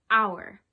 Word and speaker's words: hour: a vowel such as the word our our h-o-u-r has a silent h so you would think you would use the word ah because the beginning of the word is a consonant but you can't hear the consonant you hear the vowel ow